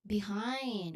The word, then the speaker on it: behind: Next is behind one word.